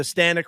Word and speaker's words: Stanek: And Mets fans, we started the last episode with the Stanek rhymes with panic, and there's no need to panic.